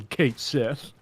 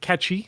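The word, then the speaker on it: Cait Sith: phonetic Clarity yeah because Kate Sith is pronounced catchy it's uh galic mhm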